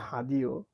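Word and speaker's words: radio: sorry apple হাদিও apple হাদিও দেখেন তো এই বানানটা রেডিও দেখা যাচ্ছে না কিন্তু হ্যাঁ এটা রেডিও কিন্তু ফ্রেঞ্চে এটা উচ্চারণ হবে হাদিও আ আপেল হাদিও এটা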